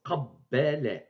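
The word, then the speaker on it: قبّل: Et on prononce qabbala, qabbala. Donc on prononce B deux fois.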